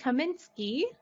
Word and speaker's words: Kaminski: excited to have our special guest here Henry Kaminski of unique designs thank you guys for having